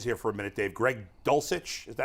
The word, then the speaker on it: Dulcich: to tight ends here for a minute Dave Greg dulcich is that how you say his name yes